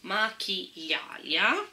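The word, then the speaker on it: Maquillalia: l'ho detto proprio bene, dice macchiglialia, perché la doppia L è un aglio praticamente, macchiglialia. Ok, o macchiglialia, no, non ha l'accento sulla I, macchiglialia, è difficile da dire.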